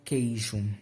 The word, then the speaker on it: queijo: Por exemplo, a palavra queijo. Queijo tem U, E, I na mesma sílaba, porém o U não é pronunciado, logo não é um tritongo.